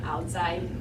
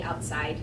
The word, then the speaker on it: Owdziej: my name is outai that name you can't spell or pronounce it's uh o w DZ i e j and if you say outside you're close enough that I will answer um I went to